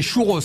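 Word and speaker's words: churros: la plage des Couros Courau ça cé les Courau alors ça c'est vraiment dommage parce que s'il y a bien un mot que tu peux prononcer c'est chouros hein ah c'est chouros bah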